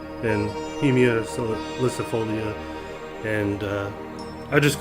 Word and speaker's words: Heimia salicifolia: For a long time, I used to call it Sinicuichi and Heimia salicifolia, but I've learned how to pronounce those correctly. It's Sinicuichi and Heimia salicifolia.